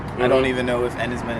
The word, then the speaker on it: Enys Men: don't even know if and his men is how it's pronounced it's Cornish for stone Island oh yes but yeah